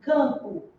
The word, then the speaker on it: campo: mala esou mala agora vamos pronunciar essa palavra aqui Campo vamos lá quando você pronuncia can O que que você escuta é é representação fonética é assim fonéticamente que eu representa a palavra ó aqui ó que foi que aconteceu com esse M aqui ele serviu apenas